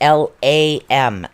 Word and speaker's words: Lam: And I think the seed sound for this one is Lam, which is L-A-M, and it's actually pronounced Lam is what it is.